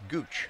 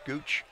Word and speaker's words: Gautsche: 82 yards last week the quarterback dauch pronounced Gooch I believe it yes it's spelled gautsche pronounced Gooch rush for 106 it's like